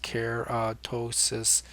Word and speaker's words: keratosis: to cover keratosis pilaris keratosis there's pronounced just care ptosis P pilaris pilaris I